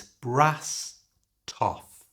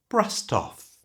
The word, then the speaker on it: brassed off: And we can connect that to the off by moving that T sound to the front of the O. So it's brass toff. And at normal speed, brassed off.